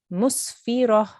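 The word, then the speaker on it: مسفرة: Okay, so you will pronounce this musfirah. Musfirah. Musfirah. Musfirah. Good, well done. Try to make a round mouth when you say the ra with a fatha on the top.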